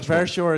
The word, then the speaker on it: Verschoor: With the right accent, how do I say? Verschoor. Verschoor. Yes, it's fine. But Verschoor is also fine.